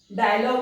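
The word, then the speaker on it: dialogue: यदि किसी वर्ड के अंत में जी यू ई आए तो वो ग प्रोनाउंस होता है। ऐसा लगेगा जी यू ई गो, मतलब जी में यू लग गया तो वो गो प्रोनाउंस होना चाहिए, लेकिन ऐसा नहीं होता। जी यू ई ग प्रोनाउंस होता है। कैसे? टंग, डायलॉग, ऐसा ना टंग यू ऐसा नहीं प्रोनाउंस किया जाता है, वो ग प्रोनाउंस होगा।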